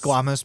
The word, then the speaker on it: squamous: squamous in the dim that's not original it's pronounced squamous but it is a word squamous uh around